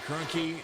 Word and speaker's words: Kroenke: of those drivers alexander kroenke 32-65 i should have known how to say his name it's pretty close to stan who owns the rams who won the super